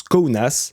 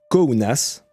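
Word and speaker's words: Kaunas: n a S et ça se prononce kounas c'est subtile alors on va le répéter une nouvelle fois s'il vous plaît kounas kounas donc le lieu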